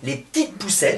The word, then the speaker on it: Les P'tites Poucettes: Et du coup, donc, a émergé donc un projet qui s'appelle en faisant super attention à bien le prononcer, les petites poussettes.